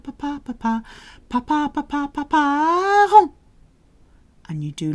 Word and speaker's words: parents: And be careful with the pronunciation of parents. A lot of people say parents. It is papa, papa, papa, papa, papa, papa, papa, parents.